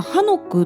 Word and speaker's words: 한옥: で韓国語ではハノクっていうんですね。